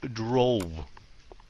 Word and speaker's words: drove: Rồi, phát âm cái chữ này sẽ drove. Drove. Cái chữ DR này đó nó giống người nam, phát âm cái chữ tr lắm, mình lại cây tre, trẻ em, âm tr.